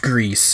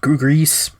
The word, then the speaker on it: Gris: um it is pronounced Greece um I I looked it up the official Twitter account for them have stated that it is pronounced grease because it is spelled